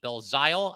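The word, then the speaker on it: Belzile: about uh Alex belzio b-e-l-z-i-l-e bill zile I believe that's how you would pronounce that uh so we'll talk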